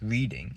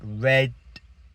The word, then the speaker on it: Reading: But it's the city is not pronounced reading. It's pronounced more like reding reading.